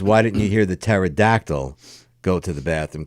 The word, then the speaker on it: pterodactyl: didn't you hear the pterodactyl go to the bathroom cuz the p is silent cuz the p is